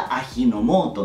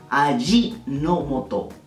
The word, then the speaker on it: Ajinomoto: dolor entonces esta marca de acá no sería ajinomoto no se le asignó moto es allí no moto allí allí no voto para acordarse de esto